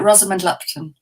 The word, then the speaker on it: Rosamund Lupton: it uh exactly if you don't mind uh rosamond lupton oh it wasn't far away some tea but